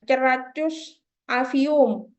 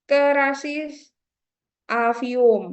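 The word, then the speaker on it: Cerasus avium: aja wes nama ilmiahnya Jangan dibaca C gini ya ceracus avium nah salah nanti kalau kalian baca seperti itu ya Jadi dibacanya itu adalah kerasis avium ya jangan ceracus avium ya kerasus avium e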